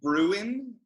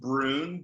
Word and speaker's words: Bruun: I'm super excited to welcome Kristian Bruun. Did I say it right? Yeah, that was actually really good. It's not a bit Bruin, and it's just Bruun, but like that's better than most people.